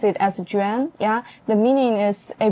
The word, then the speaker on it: Juan: So, in Chinese we pronounce it as Jen. Yeah. The meaning is a beautiful lady. Yeah. Oh, it's beautiful. Yeah, like for Spanish, uh, it's like Juan and it's actually a man's name.